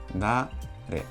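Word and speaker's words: 誰: Y esto se lee dare.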